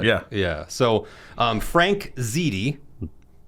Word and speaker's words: Ziede: So, um, Frank Ziti, pronounced that right.